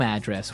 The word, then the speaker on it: address: So different from your home address where you live. Yeah, and there the stress is on the first syllable. Address.